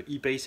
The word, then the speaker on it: E-Pace: Donc si on ne veut pas se mélanger, il vaut mieux le prononcer à l'anglaise. Le e-Pace est thermique, le I-Pace est électrique.